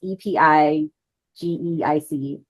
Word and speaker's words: epigeic: or Georgia jumpers and epig Epi I don't know how to say this word it's Epi GE i c epigeic worms um but they're